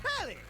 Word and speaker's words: Telly: The name's Telly. Rhymes with Nelly. Like, whoa, Nelly!